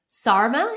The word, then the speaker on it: Sarma: then i know how i'm saying it quickly sarma is her first name sarima spelled s-a-r-m-a her